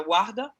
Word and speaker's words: Warda: Warda, a gente pronuncia Warda.